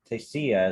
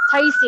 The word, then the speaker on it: Tasty: before um let's taste tastia is that how you pronounce it i don't know how to pronounce your name it's tasty yeah sorry i'm trying to